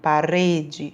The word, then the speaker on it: parede: Ó, pronunciando parede, farinha, sai um som fraco.